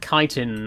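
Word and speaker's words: chitin: It's Chittin. I I believe some people pronounce it kitin. I don't know what the correct pronunciation is to be honest, but I've always just said it as chittin.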